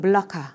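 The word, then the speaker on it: Melaka: 지금 제가 써 드린대로 말레이 어른은 멜라카 라고 할 수 있고요 중국어는 역시 말라카 라는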